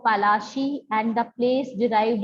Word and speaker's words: Palashi: Plassey is एन anglicized pronunciation of Palashi, and the place derived